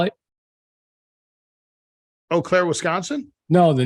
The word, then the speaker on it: Eau Claire: but yeah and and Eau Claire like an eclair yes how cool is